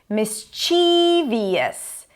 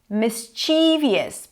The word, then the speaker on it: mischievous: A common mistake is to say this word as mischievous. Mischievous. Probably because of the spelling, but the stress is on the first syllable.